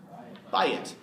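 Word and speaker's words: בַּיִת: How do you just say house? Bayit. Two-syllable word, bayit.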